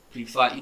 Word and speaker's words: prefer: For example, now we have prefer. I wrote fer here because it's stressed.